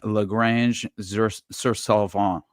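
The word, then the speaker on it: Granges-sur-Salvan: But essentially this was like Lagrange sur Salvant is how it's pronounced, I believe, south of Sherry, Switzerland.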